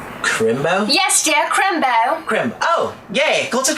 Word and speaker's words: Crimbo: Okay, and I want to make sure I'm pronouncing this right. It's, Crimbo? Yes, dear, Crimbo.